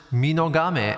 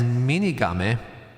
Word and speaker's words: Minogame: I just mispronounced Minogame as Minigame. And that's on the album. I'm going to re-record that bit at least. Because Minogame is a god from Japanese mythology.